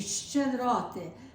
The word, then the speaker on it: щедроти: Щедроти. Щедроти. That's a hard one. yeah. Still? Shed, it's like a che, and then you add sh in front of it. It's like you're saying fresh cheese, fresh Okay.